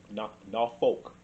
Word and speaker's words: Norfolk: Norfolk. It's Norfolk. Norfolk. Yeah. Okay. You're from here. You know how to pronounce it.